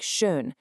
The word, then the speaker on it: schön: Make your lips into a tight little circle like you're saying Ü, but try to push the E sound out. That's the Ü.